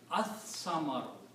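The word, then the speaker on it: الثمر: So it will be pronounced as as-samaru.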